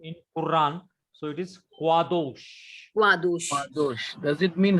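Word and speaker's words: קדוש: Qadosh. Kadosh. Qadosh. Not kha. Not kha. Kha gives khet. Khet gives kha sound. And kap gives ka sound. Ka. But it is a qua. Qadosh. Like Q in Quran.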